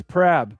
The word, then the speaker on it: Prab: No, it's Prab. P-R-A-B. Yeah, 7755. Yep. All right. That's my choice. All right, Prab, you're in.